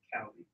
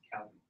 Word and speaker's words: Chaldee: It's not Chaldee, it's actually Chaldee. The CH is like character. It's pronounced Chaldee. Chaldee.